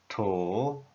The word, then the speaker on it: 土: The pronunciation is to.